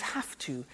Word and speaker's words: have to: pronunciation I have to notice I don't say V I say F have half it becomes half to have the two becomes